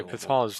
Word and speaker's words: Qatar: oh yeah yeah after i think it's actually pronounced pronounced is it i think it is yeah uh but qatar just sounds yeah katar's the right way so